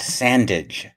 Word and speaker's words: Sandage: uh history professor scott sandage rhymes with bandage by the way i've